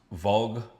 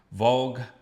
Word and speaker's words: Walg: This is a band called I think it's pronounced Vogue. W A L G.